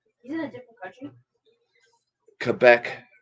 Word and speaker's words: Quebec: in a different country Quebec Canada not clubbuck it's Quebec why why did people